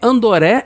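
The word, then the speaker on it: Andore: O nome Andoré é como os japoneses pronunciam André, né? Porque eles não fazem o dr, então eles falam Andoré.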